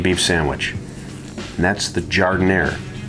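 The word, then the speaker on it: giardiniera: of an italian beef sandwich and that's the jardin air not well i'm not even going to say how people butcher the way the word is said but it is pronounced jardin air jardiner is a vegetable mix there are peppers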